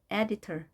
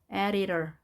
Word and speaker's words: editor: editor. 자, D나 T는 양쪽에 모음이 있게 되면 모두 R 발음이 됩니다. editor.